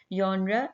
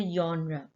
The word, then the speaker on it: genre: Genre इसको pronounce करना है आपने, ये genre नहीं है। जैसे genre, जैसे आप याद का बोलते हैं य, तो इसी तरह से genre बोला जाएगा।